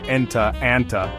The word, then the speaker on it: enta: If you're talking to a boy, you say enta with a little a sound at the end.